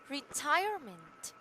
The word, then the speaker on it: retirement: And for the last one, we have retirement. Retirement. Yeah. and the thread is the second syllable.